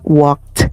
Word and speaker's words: walked: Recordemos que el pasado, la ed se pronuncia como una t.